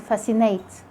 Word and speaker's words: fascinate: And it's also silent when the SC comes in the middle of words like muscle and fascinate.